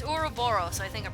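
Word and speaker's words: Ouroboros: get is uro boros I don't know why I'm pronouncing that all japanesey being like uro boros but no it's urub Boro so I think I'm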